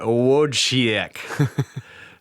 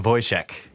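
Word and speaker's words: Wojciech: was pretty close yeah I would have said would she ik but it's a voice check so voice check at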